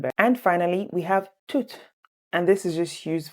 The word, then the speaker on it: tout: Now you might ask, okay, so why are you saying tout est possible when you just said that it's pronounced tout?